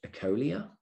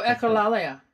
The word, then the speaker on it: echolalia: I'm a bit scared to pronounce this because I can't pronounce it. Ecolia? Oh, echolalia.